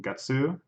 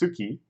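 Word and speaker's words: 月: is like Goku go get sue for the fifth month that's May every month my Suki so there it's pronounced Suki which is the reading for moon you probably heard that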